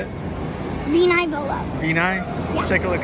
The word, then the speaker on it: Vino Volo: Veno Volo. Veni? Yeah. Take a look again. Veno Volo. Vino Volo.